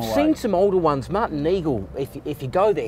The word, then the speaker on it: Nigl: Martin Neagle if if you go there he he's really keen to show other people's wines just as this is pronounced Neagle not Nigel. Neagle.